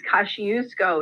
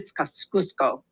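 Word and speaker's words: Kościuszko: I know I'm not saying this right fattiest cash use go it's kind of how an American pronounces it but it's like Fabian scoffs Cusco and he helped to train the soldiers and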